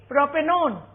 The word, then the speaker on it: propanone: it will be propanel if it is a ketone we will add onee but we will not pronounce it like one so it will be propanone if it is carboxylic